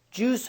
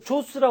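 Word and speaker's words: Jews: 그래서 발음을 주스 하셔야 돼. 이걸 제우스라고는 학생 있는데 세상에 이게 재우스냐고. 이걸 조스라 그러는 학생. 조스. 이게 조스야.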